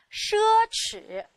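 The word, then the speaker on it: 奢侈: 奢侈。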